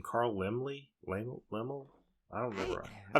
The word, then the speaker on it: Laemmle: Carl Laemmle? Laemmle? I don't remember. I don't think I've ever... Laemmle, but I've read it.